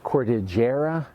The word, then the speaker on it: cordigera: in cyclic or didgera I've had other people call it um cordajara and I'm not sure what the pronunciation but when I when I looked at the the name cordigira is is how it for me it's how it should be pronounced anyway this is a